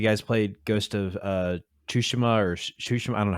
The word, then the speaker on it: Tsushima: know if you guys played ghost of uh two shima or shusham i don't know how to pronounce tsushima yeah yeah thank you um i should know